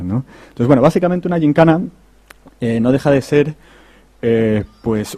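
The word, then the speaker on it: yincana: y resulta que pues han decidido que se dice gincana y que se escribe, ¿no? como lo escribimos, ¿no? Con Y-I-N-C-A-N-A, ¿no? Pues ya es algo aceptado, gincana en castellano.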